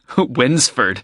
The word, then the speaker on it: Wednesford: o'clock she lives in wednesford so you'll need money for the bus fare winsford that's funny it's like when's the food no it's spelled w-e-d-n-e-s-f-o-r-d it's a village a few miles